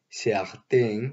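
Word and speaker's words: certains: Podemos encontrar quelques, algunos, plusieurs, varios, un autre, otro, chaque, cada, aucun, ningún, certain, cierto, certain, con ese, ciertos, ese que no se pronuncia pero que se escribe.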